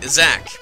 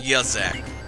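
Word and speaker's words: Yzak: you some evade isak I found out how to pronounce his name isach yay isak I always call him yaak whatever since I'm not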